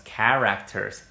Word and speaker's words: character: Y aunque se escribe con H, con CH, así como lo puso Julie, en realidad se pronuncia K. Muchas veces la CH, cuando tiene una raíz latina, se dice como una K. Character, character, character.